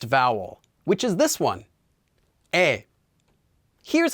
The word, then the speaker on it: 이: just one line going down this one is pronounced as well let's use our empty consonant to hear it e e so now let's do some more practice